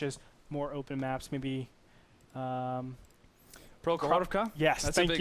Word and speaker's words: Prokhorovka: That was one of the maps they had a difficult time pronouncing. Can you say it again? Prokhorovka.